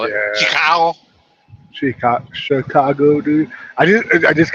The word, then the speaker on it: Chicago: just a Mexican thing I think a lot of people look at the way it's spelled and they go huh the CH is cha CH could also be sure very rarely this is the first time I heard chef there's an sh for that sh yeah CH can